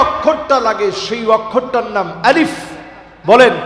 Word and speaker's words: আলিফ: একটু হাসি দিয়ে বললেই দেখবেন আলিফটা শুদ্ধ হয়ে যাবে। বলেন আলিফ।